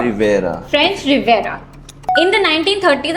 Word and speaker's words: Riviera: loose, wide-legged beach pajamas on the French, कैसे pronounce करते हैं? Riviera. Rivera.